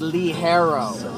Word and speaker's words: ligero: And it's pronounced, it looks like Ligero, but it's pronounced Lee Harrow.